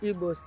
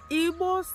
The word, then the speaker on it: Igbo: Who are really the Igbos? Igbos are people who lives in eastern part of Nigeria.